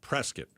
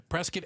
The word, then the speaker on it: Prescott: The one that starts with a P I'm gonna go with prescuit. Oh, I'm gonna go with that. That's correct. Not prescuit. Prescuit. Prescuit as in biscuit. That's the easiest way to remember. Prescuit as in biscuit.